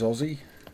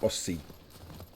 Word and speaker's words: Aussie: It is Aussie. The S's are pronounced as Z's, not Aussie.